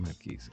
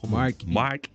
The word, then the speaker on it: Marquis: Sí, déjame decirte, el vehículo, el Marquis, que le dicen Marquis, no es Marquis, es Marquis.